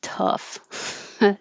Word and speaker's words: tough: is the stress vowel this looks like a lot of letters but it's just tough t-u-h uh i usually represent with u-h that's it cuff and the vowel is uh like up the schwa sound oh squirrel squirrel i